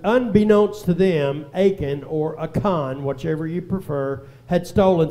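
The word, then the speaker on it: Achan: if you remember uh aen or aan is the way it's pronounced in the Hebrew dictionary aan uh he stole some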